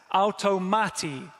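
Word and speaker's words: αὐτομάτη: So that first word is pronounced like this, automati.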